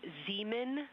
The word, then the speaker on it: Zeeman: We believe that that is Zeeman crater. Zeeman. Okay, and can you say the first letter? I may be pronouncing that wrong.